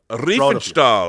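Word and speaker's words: Riefenstahl: Uh Reefenstall this is the documentary I showed before on Blu-ray. It's on I mean on uh DVD it's on Blu-ray. Yeah. Um, correct pronunciation, Rob. Refall.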